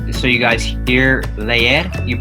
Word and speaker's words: leer: For example, like you were saying, leer, you have to pronounce both E's.